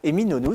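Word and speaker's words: Eminönü: Comment on prononce? Eminonu, c'est ça.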